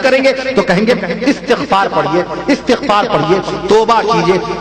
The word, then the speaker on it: استغفار: کہتے ہیں استغفار پڑھیے، استغفار صحیح تلفظ ہے استغفار، استغفار، اور جب پڑھیں گے تو الف کے زبر سے پڑھیں گے، استغفر اللہ ربی